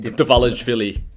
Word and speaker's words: Dvalishvili: Dvalishvili.